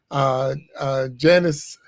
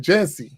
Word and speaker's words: Jancy: Janice, I want to say it right. Jancy. Yeah, there you go.